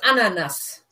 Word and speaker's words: Ananas: Well, let's look at the pronunciation first. It's ananas.